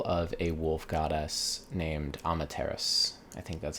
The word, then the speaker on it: Amaterasu: But in this game, you're going to take control of a wolf goddess named Amaterasu. I think that's how you're supposed to pronounce it in English.